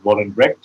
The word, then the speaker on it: Vollebregt: pronouncing your name correctly is it voluntary yes but i think the g and r are difficult enough thank you tell us